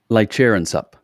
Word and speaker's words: Laichareonsup: Laichareonsup.